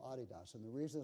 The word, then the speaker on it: Adidas: hear the company Adidas you probably call it Adidas but that's mispronounced it's called Adidas and the reason it's